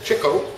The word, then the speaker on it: Chico: okay read along with me if you would Chico Cho actually Cho which is the correct correct pronunciation Cho Leonard Marx and Harpo Arthur Marx